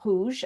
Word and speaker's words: rouge: So I would look at rouge and I think, well, I'm not be teaching the E because that's a silent letter. So it'll be an R, that's different to English. The OU is different. The G before an E is different.